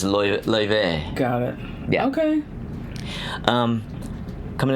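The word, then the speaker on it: Laufey: Oive? Loewe. Oh, Loewe. It's L-A-U-F-E-Y, Oh, but the Icelandic. pronunciation is Loewe.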